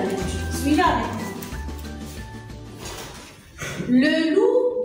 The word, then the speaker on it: loup: L avec OU, ça donne loup. Le P, elle est muette. Alors, je vais entourer les lettres muettes. Le P, ça ne se prononce pas.